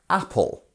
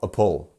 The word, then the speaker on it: apple: So we have apple. So as you can hear, our first syllable here is the stressed syllable. It's apple, apple. It's not a pull.